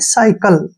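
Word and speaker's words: cycle: सिलेंडर अब यहां देखिए सी के बाद फिर वाई आ गया साई यानी कि साई ठीक है ना और सी का उच्चारण यहां पर क होगा और एल ई का ल यानी कि साइकल साइकल साइकल को क्या बोलते हैं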